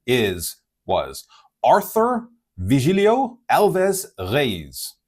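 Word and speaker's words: Reis: His name is was Arthur Vigilio Alves Reyes.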